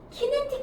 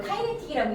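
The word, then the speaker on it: kinetic: 든 그 인지해 주는 그 센서 발을 키네틱 바라고 불러 근데 우리는 그걸 카이네틱이라고 읽는 거야 그래서 움직임을 인지하는 아이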